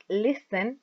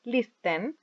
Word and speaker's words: listen: speak watch go listen pronunciation is listen not list them we say listen read and play use